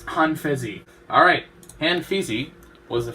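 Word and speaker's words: Han Feizi: How you pronounce it? Pretty sure it's Han Fezi.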